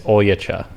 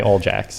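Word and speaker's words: Oljača: be seeing it right it's a serbian name if you pronounce it in serbian it's oyecha all right they call me all jacks that's right your ancestors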